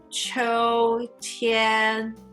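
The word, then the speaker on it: 秋天: 秋天, both are first tone. 秋天.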